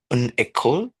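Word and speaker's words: école: Uh can you please pronounce again for the feminine singular? Yes. So it's echole after a school.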